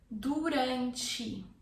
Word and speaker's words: durante: Durante. Durante. If you can't roll your R, rante, use the American R. Durante. Durante. Durante. But the word in Portuguese in Brazil is said durante. Durante.